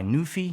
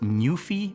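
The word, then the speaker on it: NuPhy: the ones made by newy I think it's pronounced Nui or at least that's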